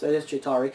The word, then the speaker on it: Chitauri: I probably mispronounced it. No, that is Chitauri.